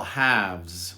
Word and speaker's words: halves: It's same with the plural, halves. We don't pronounce the L.